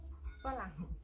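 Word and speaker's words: ฝรั่ง: Farang.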